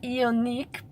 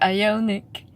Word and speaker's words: Ioniq: eye eye eye Yannick I always pronounce it unique but I guess it's ionic and I must say